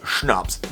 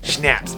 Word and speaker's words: Schnapps: And yes, it's pronounced schnups, not schnaps.